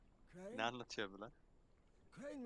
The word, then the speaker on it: Crane: Crane rhymes with train.